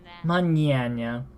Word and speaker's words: mañana: considered the same sound the ng in in morning or any ing word mmm ink in nah it's just you're not gonna have the hard G that you have in ing like ink as many Anna it's it's still there it's it's an NG type sound but because it's a